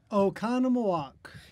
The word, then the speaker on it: Oconomowoc: the USA Wisconsin namely I can you just pronounce the name of your town please Nathan Oconomowoc yeah well you make it sound really easy